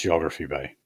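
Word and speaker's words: Geographe Bay: Oh, so it is pronounced Geography Bay.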